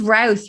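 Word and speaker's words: Routh: to come out again i think his rouse rhymes with mouse right brandon yeah and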